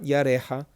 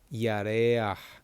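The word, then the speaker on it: ירח: Not yarecha, yareach.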